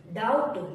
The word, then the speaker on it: doubt: टी से पहले अगर बी आया तो साइलेंट होगा। जैसे डैट, DEBT, डैट। डेब्ट नहीं बोलेंगे इसको, डैट। डाउट, DOUBT, डाउट।